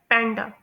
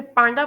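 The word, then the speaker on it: panda: पहला है पैंडा। लोग इसे पांडा प्रोनाउंस करते हैं, लेकिन इसे प्रोनाउंस किया जाता है पैंडा।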